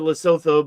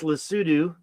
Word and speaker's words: Lesotho: I know you might pronounce it Lesotho, but it's Lesotho, And as you get